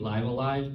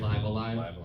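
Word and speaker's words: Live A Live: She then would join Squaresoft and Mario RPG, Live Alive, that's how it's said, by the way, Live Alive.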